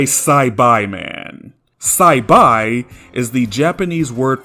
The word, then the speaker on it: Saibaiman: You wouldn't call this a Saberman, would you? However, if you call this creature a Cyberman, you're wrong. This is a Saibai man.